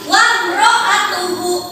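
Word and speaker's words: وَامْرَأَتُهُ: maka cara membacanya itu huruf mimnya itu harus jelas tanpa dengung. Contohnya ini, wamro'atuhu hammalatal hatab. Coba baca. Wamro'atuhu. Dengung tidak? Tidak, jadi langsung wam.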